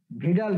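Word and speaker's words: Widal: জি না স্যার, এটা হলো ভিডাল টেস্ট, ঠিক আছে। এটা অনেকেই জানে না, এটা খেলে ভুল করে, এটা উইডাল বলা যাবে না।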